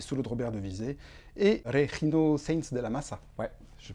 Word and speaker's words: Regino Sainz de la Maza: et orchestre, des solos de Robert Devizet et Regino Sainz de la Massa. Je prononce bien, c'est bon.